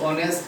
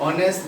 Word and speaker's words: honest: Then here is honest, actually adjective. Honest, that means is not pronounced.